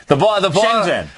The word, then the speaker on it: Shenzhen: I gotta pronounce that name right. Shenzhen.